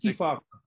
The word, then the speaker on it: Kefauver: And I think I always pronounce this guy's name wrong. Kefauver, is that it? Kefauver.